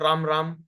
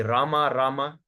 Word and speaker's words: Rama: So ensure that you are saying it properly, correctly, pronunciation is correct, you know, not Ram Ram supposed be Rama, Rama, you know.